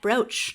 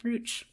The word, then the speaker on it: brooch: I remember to ask this time, and it's cat brooch, not cat brooch. Yes, I want the internet to know that we do know how to say the word brooch. I mistakenly trusted Lester's judgment and will never do so again.